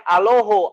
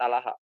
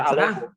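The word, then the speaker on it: ܐܠܗܐ: Nih Elah, kemudian dibacanya Aloho. Kalau dalam Aramaik, ini ya, Aramaik Timur dia menggunakan O jadinya. Nah sekarang dekat mana sama Theos? Kalau barat gimana? Kalau barat Alaha. Kalau timur Aloho.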